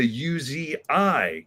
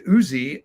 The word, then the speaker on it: Uzi: But I remember getting Snake Eyes, and I was obsessed with him and his gun, which I called the UZI gun, because on the packaging, it's spelled Uzi, capital U, capital Z, capital I.